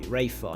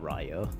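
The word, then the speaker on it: Rayfa: the father of Rayo I feel like that definitely has to be rayful not Ryo I know I was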